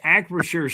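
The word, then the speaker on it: Acrisure: Yeah, it's Acrashure Stadium and also part of the draft will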